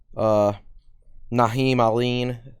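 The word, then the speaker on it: Naheem Alleyne: I assume he's talking about Nolly, Beatty, Naheem Aline. That's how you pronounce that.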